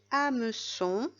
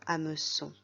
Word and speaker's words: hameçon: content les syllabes de hameçons à ne sont trois syllabes je vais te donner un indice la première lettre est muette dans à me sont c'est la lettre h à me sont met